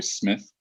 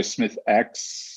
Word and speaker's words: Smithx: The X is silent, like my last name, Smith. So some people say Smithx, some people say REDx